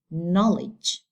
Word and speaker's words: knowledge: It means that I have to make the strong or the primary syllable, stress on the first syllable. So I have to put it here, and I can say it like knowledge, knowledge, not knowledge, no, knowledge.